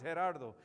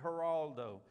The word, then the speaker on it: Gerardo: probably botch it because you can't say that H, the G is an H in Spanish, and you can't roll your R's, Gerardo. So there are a lot of people call me Geraldo.